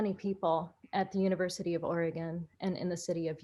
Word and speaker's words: Oregon: We came from all over the country to the wacky state that we learned to pronounce as Oregon once we arrived there.